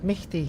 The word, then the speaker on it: Misti: Lukai pronounces that Misti. Yeah, like Misti. Like Misty Misty, is it just funny or like everyone?